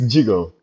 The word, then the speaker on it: Djigo: Yeah, it's Jigo. Like Jiggle just like you pronounce it pronunciate it when you read it in French.